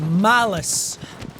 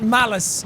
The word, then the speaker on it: Malus: to fight now is called Malus And not malice as in ma. I M-A-L-I-CE but M-A-L-U-S Same thing, but it's